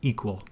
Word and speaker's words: EQL: To build a query, Aurora Endpoint Security uses the event query language or EQL pronounced equal.